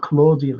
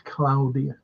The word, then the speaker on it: Claudia: whoa Claudia oh well it's not Claudia it's cloudia that's how you pronounce the Italian Cloud born anyway in